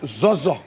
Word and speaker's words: Zorzor: So, is there the real pronunciation that we have today, Zoza, or there's a way that you pronounce it as Loma? It's Zoza.